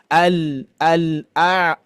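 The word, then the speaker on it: الْأَعْلَى: Al a la tidak a la la beda ya la la.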